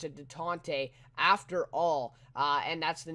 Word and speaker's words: Détente: I think that's how you pronounce it, Détente, after all.